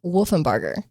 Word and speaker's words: Wolfenbarger: Now, today we're going to talk about a guy whose last name is hard to pronounce, so Haley calls him Waterburger. Sorry, but it's Christopher Wolfenberger.